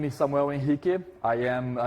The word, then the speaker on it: Samuel Henrique: uh my name is Samuel in hiiki I am that's the Brazilian pronunciation of my name because I am Brazilian I have been a